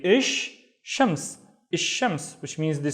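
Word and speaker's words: الشمس: And now what I do is, instead of saying il, I skip the il and I say ish. Again, instead of pronouncing il, I would pronounce ish, and then I would say shams. Ish shams. Why? Because sha is one of the sun letters. So when we have a sun letter, we double the letter itself and we skip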